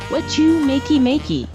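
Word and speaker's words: Wachumeqimeqi: miy watch watch you Makey Makey is the crafting Plaza it's pronounced what you Makey Makey thank you Ana I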